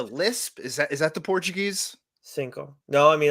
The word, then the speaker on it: cinco: Cinco. No, I mean, like, the only thing I've ever heard is like the O's not pronounced as much would be sync.